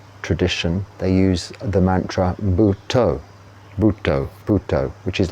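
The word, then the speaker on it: Buddho: they use the Mantra buto which is like Buddha but spelled b u d d h o and the D is kind of pronounced toe along the saxo but toe uh the the relevance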